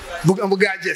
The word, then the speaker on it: Bugaje: today, as he mentioned, Dr. Baguje, can't pronounce his name yet. Bugaje, thank you.